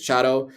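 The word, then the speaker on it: Tseaddo: some nicer places in chato for the right price so chado is spelled t-s-e-a-d-d-o so it it's pronounced way differently from how it's spelled don't ask me but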